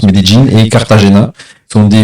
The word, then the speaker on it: Medellín: Donc j'ai fait 2 villes, Medellín, bon, on prononce Medellín, et Cartagena.